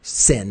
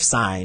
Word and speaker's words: sine: thing like when i my students say sin instead of sign it's like well no that's a completely different thing you know or cos instead of cosine um you know so